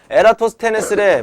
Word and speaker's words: 에라토스테네스: 너도 그만해 자 지구의 크기 측정하는 거 보세요 에라토스테네스래 뭐라고 누구라고 따라하세요 에라토스 테네스 에레토스 테네스 엮어 에라토스테네스 에라토스테네스 에라토스테네스 발음 안 한 사람 있어 에라토스테네스 에라토스테네스 이모